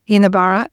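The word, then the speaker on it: Jinibara: that of Yinnabarra, and which is spelt with a J and pronounced without the J, Yinnabarra, and Kabi Kabi.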